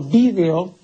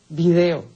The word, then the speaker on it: vídeo: el término latino vídeo, la gente comenzó a pronunciar video y terminó pues todo el mundo video diciendo video, que es una pronunciación bárbara, ¿no? Ahora resulta que la academia admite las dos pronunciaciones, la correcta, la etimológica, la latina que es vídeo y curiosamente así se dice en España y video que se dice aquí, pues, ¿por qué?